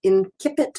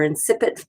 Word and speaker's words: Incipit: So, this is the one that has it's in Icelandic and yet the title is it says Incipit or Incipit by medieval Latin pronunciation.